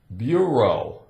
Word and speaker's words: bureau: We have E-A-U, bureau, a bureau.